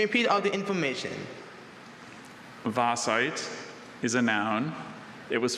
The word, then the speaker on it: vaesite: Vasite. Really unusual vowel combination for that sound in the English language. The Belgian name, if you're familiar, can help.